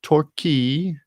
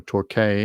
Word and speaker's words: Torquay: the victorian cities of torquay or torquay i don't know how you pronounce in australia and allen's ford that's torquey t-o-r-q-u-a-y and allen's ford